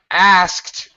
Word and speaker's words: asked: igore thank you uh asked okay pronunciation wise it really sounds if I want to do real pronunciation all right it's going to sound you're GNA hear the S the K and the T he asked me a